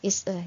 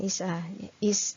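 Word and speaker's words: IS-A: Ini sudah kita bahas kemarin ya, relasi is-e ya, yang disimbolkan dengan bentuk segitiga itu ya. Jadi sebenarnya itu dibacanya is-e ya, bukan isa, bukan isa gitu ya. Jadi dalam bahasa Inggris dia is-e gitu.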